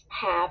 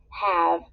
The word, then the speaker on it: have: to say but um it needs e at the end because English words don't end in v so that's why even though we pronounce this as have it had to end